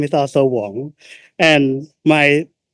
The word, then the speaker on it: Wong: But the first syllable is Wong, like w o n g.